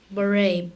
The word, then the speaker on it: beret: Beret.